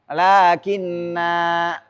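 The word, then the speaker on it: لكنا: Ini kalau berhenti di sini panjang. Lakinna. Tapi kalau kita lanjutkan nggak boleh dibaca panjang.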